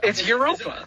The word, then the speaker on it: Europa: I'm like, how do you pronounce it? What do you like? It's Europa.